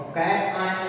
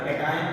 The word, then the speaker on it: cation: और कैट आयन नहीं पढ़ना, कैटायन पढ़ना, नहीं तुम लोग उठा कुछ भी पढ़ लेते हो।